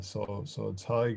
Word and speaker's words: Tadhg: So Tadhg, yeah, it's a really old Irish name, and nobody gets it right unless you're from Ireland, really.